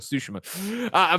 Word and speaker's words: Tsushima: Hey man, they're driving it home, and I keep changing the pronunciation because I go back to what's wrong and try to get back to what's right. Tsushima.